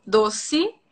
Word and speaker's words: doce: Sì, dossi, anche la Doce. E a volte può essere I alla fine della parola. Non è Doce. dossi.